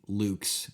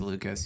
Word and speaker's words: Lukes: I need some help with I think it's pronounced Lucas. Yeah, I think there's 2 syllables in there. They got an invisible short vowel hidden on one of those consonants for me.